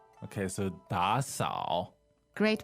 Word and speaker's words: 打扫: The verb is 打扫, two third tone. 打扫. And that means to clean, right? Right. Okay, so 打扫.